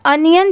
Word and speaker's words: onion: ये है अनियन chopper, ONION, बहुत सारे लोग इसे ऑनियन पढ़ते हैं, बट इसकी करेक्ट प्रोनाउंसिएशन है अनियन।